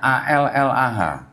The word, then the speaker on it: Allah: Di sini juga ada kata tulisannya ALLAH. Ya, kita kalau baca ini bacanya Allah, karena nggak ada tasdidnya pada sini Pak. Jadi kita bacanya Allah aja gitu.